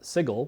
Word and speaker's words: sigil: I mean you know sigil which I'm always sure I'm pronouncing wrong you are saying sigil correctly actually that means the city